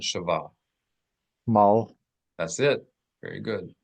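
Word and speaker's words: שְׁוָא: In modern Hebrew, they say shava. Make sure you do not say sheva. Sheva means seven. Shava is this symbol. So we're accenting the last syllable of the name, Shava.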